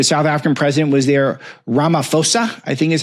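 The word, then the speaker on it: Ramaphosa: the uh the South African president was there Ramaposa I think is how you pronounce it.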